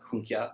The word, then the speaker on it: Junker: Well, he was a member of the Junker, which I'm actually told should be pronounced something like Junkia, or something like that, but I'm not going to try to say it in German or anything like that.